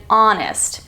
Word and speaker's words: honest: ounce this letter but it's the letter H at the beginning of some words as an hour herb and honest h o Ur we don't pronounce it how we pronounce our